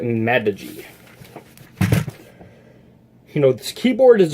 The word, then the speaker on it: Magegee: I believe it's pronounced like Magegee. Like, that's what Texas Speech is saying, that how the company is pronounced, so I'm just going to go with it and call it Magegee.